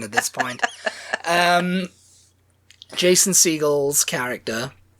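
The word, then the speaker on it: Segel: Seagal, I think it is. Jason Seagull. But it's spelled like Steven Seagal, isn't it? Yes. But I think he maybe doesn't want the association.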